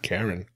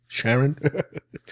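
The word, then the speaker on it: Charon: on the line it's cheran I think that's how it's pronounced Sharon Sharon Karen not Karen Sharon anyway this is the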